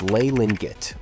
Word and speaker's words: Li Lianjie: Beijing, a child named Li Lianjie was born into a large family. At least, that’s how his name is pronounced in Mandarin Chinese, but in Cantonese, it’s Lei Lin-Git or Li Ling-Kit.